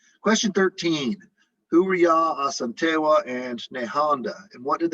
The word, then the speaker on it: Asante: She led the fight against the British in the last Asante War. I say Asante, but you might have heard the term Ashanti. These are the same group, sort of different pronunciations.